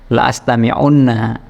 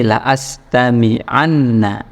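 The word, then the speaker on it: لَأَسْتَمِعَنَّ: dah atau tidak mu'raob Jadi bukan bacanya la astamiunna bacanya bukan begitu tapi la astamianna oke begitu ya Nah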